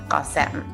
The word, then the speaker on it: Qasem: Well, I mostly just watched him watch the episode and hear his name said on television for the first time ever, pronounced correctly, Qasem.